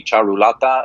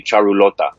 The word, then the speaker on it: Charulata: Yeah, if you're speaking it from a Hindi background, it would be Charulata. If you're speaking it with a Bengali background, it would be Charulota.